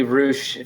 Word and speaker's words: Ruess: i mean it's like it's supposed to be rouge from like my like my fam my i've got a hundred family members in iowa so that's how they all pronounce it um but then any friends that i've made in like germany and stuff along the way they've been like it's ruse and i was like